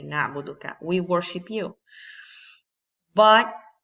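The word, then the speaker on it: نعبد: it's very interesting because I can say and then I do we worship you or Nabu dukkha we worship you which will be the correct way to say na budu that we worship you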